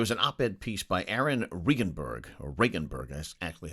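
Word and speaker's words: Aaron Regunberg: There was an op-ed piece by Aaron Regenberg, that's actually how you pronounce his name, former state rep who ran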